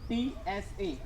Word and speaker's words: pizza: So the correct pronunciation of it, pizza. There is not za. There is pizza. PEETSA.